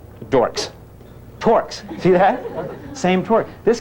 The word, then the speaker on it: torques: Or because the kids provide the same but opposite, begin with T, end with dork, rhyme with dork. Dorks. Torques.